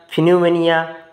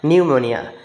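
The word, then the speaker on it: pneumonia: হবে প্রথম উচ্চার উচ্চারণটা ফিনিউমোনিয়া তারপর নিউমেনিয়া তারপর আবার দেখো ফিনোমোনিয়া তারপর নিউমোনিয়া কিন্তু সঠিক উচ্চারণ হচ্ছে প্রথমটা নিউমোনিয়া নিউমোনিয়া কিন্তু এইভাবে তোমাদের উচ্চারণ করতে হবে যেমন সাইকোলজি সাইকোলজির প্রথম অক্ষরটা পি আসে ঠিক আছে তাহলে নিউমোনিয়ার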